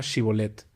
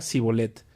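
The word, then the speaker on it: שִׁבֹּלֶת: ellos le pedían que pronunciara la palabra shibolet si era de Efraín diría zolet porque a la gente de Efraín le cuesta pronunciar bien esa palabra entonces se lo llevaban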